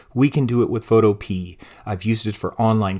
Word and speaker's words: Photopea: I'll often say Photopea, but I believe it's pronounced Photopea.